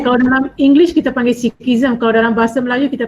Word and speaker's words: Sikhism: Jadi Wan Muhammad Fazrul ingin tahu sama ada how do you pronounce that? Sikhisma, is it? Sikhism. Oh, Sikhism. Oh, because this is in Malay, so dia ada ma di ujung dia.